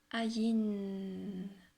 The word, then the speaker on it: Ayin: Ayin. Voilà, faites comme ça. Ayin. Prononcez le N plus longtemps.